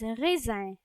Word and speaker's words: raisin: And grapes in French are pronounced as raisin.